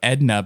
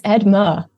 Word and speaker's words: Edma: was it I I want to say like Edna but it's not it's edma edma interestingly enough yeah yeah